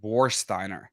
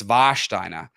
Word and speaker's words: Warsteiner: in Americans pronounce it warsteiner like wariner war and Steiner but it's vasher um it's longer so in Germany the W has a v sound the W is V